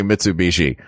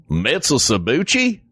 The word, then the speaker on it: Mitsubishi: trying to Knoxville knoxvill and trying to say Mitsubishi which made me laugh what was the worst mispronunciation mitsuuchi was my favorite was my favorite um but